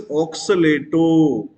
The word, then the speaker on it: oxalato: When a negative ligand is there, we have to pronounce as O sound. We have to pronounce with O sound.